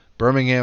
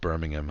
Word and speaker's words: Birmingham: the British town of Birmingham huh Birmingham I suppose it's stronger on the ham if you are in the UK and you're saying it